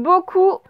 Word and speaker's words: beaucoup: Pour faire coup, c'est O-U, mais à la fin, il faut une lettre qu'on n'entend pas. Oui, un P, très bien. Un P. Parce que le mot coup, j'ai fait un bon coup, bah, ça s'écrit C-O-U-P. Donc, beaucoup, attention au P qu'on n'entend pas à la fin.